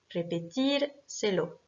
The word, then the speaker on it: repetírselo: Pareil, ça décale l'accentuation de répétir, qui normalement est accentuée sur le I. Donc, on rajoute cet accent sur le I pour montrer que c'est bien cette syllabe qui est accentuée.